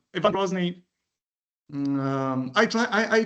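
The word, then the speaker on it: Грозный: And though a bit later u Ivan Grosny um I try I I try to pronounce his name in the Russian way because terrible is not really the a good translation for Gnney.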